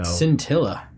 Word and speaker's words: scintilla: well that doesn't end with an n so cintilla cintilla yeah i think that's a genitalia all